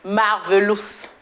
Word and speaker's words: Marvelous: Si tu veux, tu peux aussi dire Marvelous. C'est comme ça la prononciation en français.